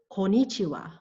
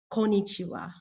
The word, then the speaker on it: konnichiwa: not be mistaken with konichiwa konichiwa i hear that often konichiwa does not have five syllables as you can see it only has four and it is missing the first n konichiwa konichiwa actually is meaningless however